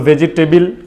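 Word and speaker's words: vegetable: এনে আমি মানে ভেজ ভেজ জিনিসগুলো রাখি সো ভেজিটেবল খাই তো সমস্যা নেই আপনি কি বললেন ভেজ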